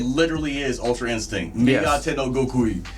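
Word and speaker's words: 身勝手の極意: Migate no Goku.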